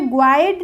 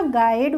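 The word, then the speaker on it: guide: होता है यू के बाद जब कोई बोबल हो तो यू साइलेंट होता है कैसे होता है गाइड अब जी के बाद यू आया तो हमने ग्वाइन नहीं बोला इसको क्या बोला गाइड बोला अगर वावाइडए सही नहीं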